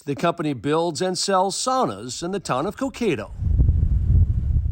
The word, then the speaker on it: sauna: became sauna City or Sona City that's the way they pronounce it sauna Sona okay if you want to say it correctly it's definitely sauna that's how they say it in Finland which is where sauna